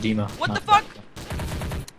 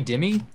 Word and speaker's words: Dima: okay it's a server it's actually pronounced it's Dima and you cut wait you call me Dimmie recentiy me first and